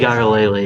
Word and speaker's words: Uiagalelei: Uiagalelei is how you say it.